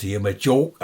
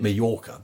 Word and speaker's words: Mallorca: Oh, no, we're going to Majorca, aren't we? Majorca. No, what is it? Mallorca, say it properly.